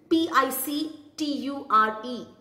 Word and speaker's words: picture: The second word which is being mispronounced by many people is picture.